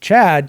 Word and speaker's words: tCHADt: This tCHADt, that's how you pronounce it.